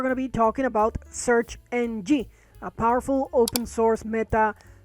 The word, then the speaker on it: SearXNG: It's pronounced SearXNG, and I believe NG means next generation.